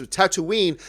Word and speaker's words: Tatooine: It's actually, you mispronounced it. It's Tatooine.